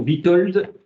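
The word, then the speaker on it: Witold: tout à fait différentes de j'écris son nom Vitold prénom Vitold l D et son nom Ostrovski S c'est un W ça se prononce finalement comme ça ça s'écrit comme ça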